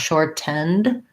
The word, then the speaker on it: shortened: understood, it's correct, but Americans will say shortened where they make that stop T there. So if I say the word short with a T, then I say it with short. I go up to make that T, but I don't release the air. Short. And then I go right into my N.